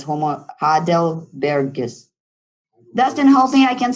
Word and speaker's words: Homo heidelbergensis: I'm not going to be able to pronounce them. Don't laugh at me. But it's Homo heidelbergensis.